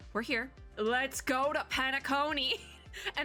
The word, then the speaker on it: Penacony: Let's go to Penacony. And I know how to say it because the video started playing like really quickly when I first clicked on it, and there's just this big voice like Penacony.